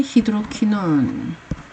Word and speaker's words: 히드로키논: 그 다음에 히드로키논. 히드로키논은 하이드로키논이라고 읽기도 하는데요.